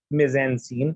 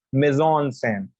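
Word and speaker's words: mise-en-scène: that is the right you don't call it mezean scene it's amazon sam and that is nothing but composition when we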